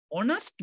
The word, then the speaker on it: honest: Number 13 අපි pronounce කරන්නේ honest man කියලා. Honest man. එතකොට o කියන්නේ vowel sound එකක්. මේ h අකුරු silent.